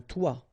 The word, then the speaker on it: toit: Okay, and then both of them are pronounced like toi.